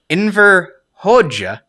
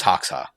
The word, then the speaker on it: Enver Hoxha: want to hear you say it first okay inver hoja are you good hey i i looked up at pronunciation on that one yeah and ver hoja